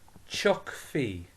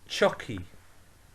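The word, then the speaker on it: tiocfaidh: so say with me chuck fee save me chuck fee this is more frequently pronounced as he so chucky try that again chucky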